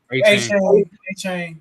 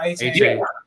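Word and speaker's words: Achane: A-Chain, Devon A-Chain.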